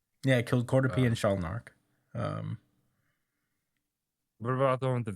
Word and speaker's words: Shalnark: He killed Sharnark. The gang kid. Sharlnak. I don't know why I can't say his name. Shalnark. Shalnark, yeah.